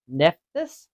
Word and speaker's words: Nephthys: So Nephthys is my best pronunciation for it.